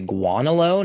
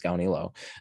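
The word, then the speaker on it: Gaunilo: to gandhi los lost i've heard some people say guanalo now that's really weird because the a is before the u so why would it be guanolo surely it's ganilo anyway i'm pronouncing it as gaonilo so a common objection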